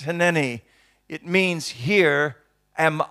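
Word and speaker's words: הִנֵּנִי: In the Hebrew language, it's pronounced hineni.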